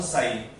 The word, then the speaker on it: psi: is wave function psi, pronounce psi, p s i, p silent है, ये symbol होता है psi के लिए।